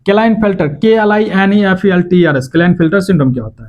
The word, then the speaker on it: Klinefelter: Sex related में देखेंगे Turner syndrome क्या होता है, क्लाइनफेल्टर सिंड्रोम क्या होता है, क्लाइनफेल्टर KLINEFELTERS क्लाइनफेल्टर सिंड्रोम क्या होता है।